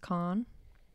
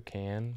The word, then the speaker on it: Cannes: festival is it pronounced Khan it's either can I think it's can I think it's can't I don't know you're the movie guy aren't you supposed to know that don't pronounce the S I know that Janice